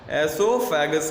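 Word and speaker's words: oesophagus: एसोफेगस का। ओ हम नहीं पढ़ते क्योंकि ओ यहाँ पे साइलेंट है, ठीक है।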